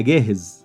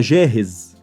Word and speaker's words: جاهز: The difference, as I told you before, that the pronunciation of this letter is Jim in Modern Standard Arabic and Gim in the Egyptian dialect of Cairo.